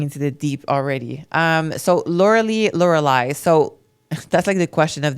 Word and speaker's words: Lauralie: And my name is written Lauralie in French. That's how it's pronounced. So it's pronounced Lauralie. Lauralie, I-E at the end. In English, you guys pronounce the I like we pronounce the E.